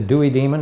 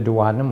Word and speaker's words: duodenum: the mouth the stomach the dewy demon or the duodenum however you want to pronounce it and then of course